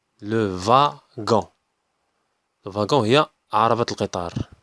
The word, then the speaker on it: wagon: هنا دبليو تقرات في. في تقرات في. لو فاغون. لو فاغون.